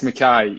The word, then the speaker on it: Mackay: guys we've got is it mckay or mackie or how did i pronounce your last name yeah it's it's makai you know uh just want to make sure i say it right scottish originally um but you know don't